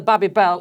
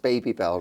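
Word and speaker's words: Babybel: if you buy the baby belt you've got your cheese and then you've got your your moldy yeah yeah anyways who's gonna tell who's gonna break it to ross that it's pronounced baby bell rather yeah what shall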